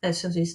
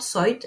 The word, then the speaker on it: soit: Bien que ce soit, so it's not soit, it's soit, okay?